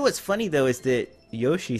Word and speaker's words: Yoshi: actually pronounce it right I have this bad habit of saying yashi instead of Yoshi you like a slow